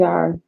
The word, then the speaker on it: EMDR: EMDR EMDR. Yes. therapy. EMDR.